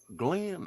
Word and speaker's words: Glyn: And I think You I'm know, saying it right Glenn, because his is spelled Glenn, yeah, GLYN. GLN, yeah, Yeah.